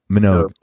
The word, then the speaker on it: Minogue: Is that how you pronounce her last name? Or Minogue? Minogue.